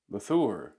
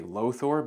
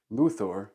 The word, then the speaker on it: Løthur: it as well but it's Danish and it's pronounced ooh here's a quick video